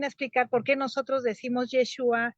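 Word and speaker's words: ישוע: exacta miren por ejemplo yeshua es la la forma correcta de pronunciar el nombre del mesías y este este nombre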